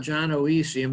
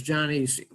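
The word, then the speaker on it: gynoecium: is the jonesium and this is a diphthong which means the o is silent so it's not ginoesium it's john easy and this is andrew's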